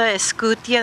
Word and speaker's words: Escutia: My name is Martha Escutia. That's spelled E-S as in Sam, C-U-T as in Tom, I-A.